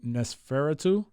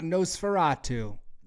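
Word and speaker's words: Nosferatu: uh he he's playing NES feratu the famous Dracula from the old black and white days ah no Fatu no Fatu yeah I knew I was mispronouncing that but he plays no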